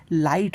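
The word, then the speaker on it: light: ঠিক একই রকমভাবে শব্দের মাঝখানে জি এইচ হলে আমাদের এখানে জি এইচটা উচ্চারণই হবে না।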